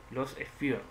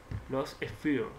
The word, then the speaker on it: Lost Sphear: New Game, Los Sphere, sí, y se pronuncia así. Si no, vamos a preguntarle a Google cómo se pronuncia el nombre del juego. A ver, ¿qué dice Google? Bien. Los Sphere, lo he pronunciado bien.